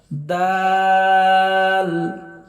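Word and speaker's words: د: দাতের গোড়ার সঙ্গে লাগবে দাল দা জিবার আগা সামনের উপরের দুই দাতের আগার সঙ্গে লাগবে র জিহভার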